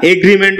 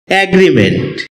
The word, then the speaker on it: agreement: অ্যাগ্রিমেন্ট, এটাকে আমরা এগ্রিমেন্ট উচ্চারণ করে থাকি, যার সঠিক উচ্চারণ হচ্ছে অ্যাগ্রিমেন্ট।